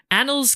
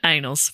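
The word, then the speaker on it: Annales: Arthur's historical existence is a 10th century uh Annals Cumbria. Oh, say it right. Anals.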